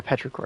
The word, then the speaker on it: Petrichor: Oh yeah, Petrichor. That's how you pronounce it.